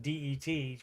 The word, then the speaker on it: debt: And you don't even it's silent. It's just DET for debt. The B is silent.